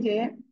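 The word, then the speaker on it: ز: আমরা এই যে র অক্ষর এর উপরে একটা নোক্তা দিলে হয় যা, কেমন হবে উচ্চারণ? যা, এরকম হালকা আওয়াজ হবে, যা, যা।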